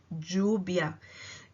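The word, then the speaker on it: lluvia: balé ela é doida são os dois elles que tem esse som de g jubia cada país tem o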